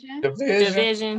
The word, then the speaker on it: DVSN: How you say it? Division.